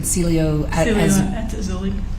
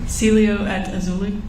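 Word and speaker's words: Cielo at Azalea: the aelia how do you say it again Celio at auli say it one more time Celio at auli okay was that the name of the apartment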